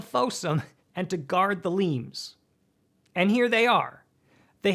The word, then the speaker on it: limes: The Romans built defensive systems called limes, sometimes pronounced limbs, sometimes pronounced lemes, to stabilize and protect territory.